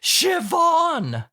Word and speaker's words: Siobhan: And she said, "Actually, it is pronounced Siobhan."